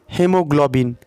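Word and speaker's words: haemoglobin: तो सबसे पहले है, आप इसमें दे सकते हैं हेमोग्लोबिन। ठीक है, हीमोग्लोबिन, जो कि यहाँ पे हीमोग्लोबिन है। ठीक है, यहाँ पे ए जो है वो मुखाक्षर है, यानी साइलेंट लेटर्स है।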